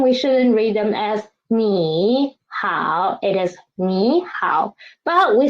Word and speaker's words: 你好: First one, 你好. Then we should change the first one, change the former one into second tone, right?